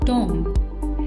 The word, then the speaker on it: tomb: The incorrect pronunciation of the word is tomb. In order to pronounce this word correctly, we stress on T and O and we stress a little lesser on M and B, making it sound like tomb.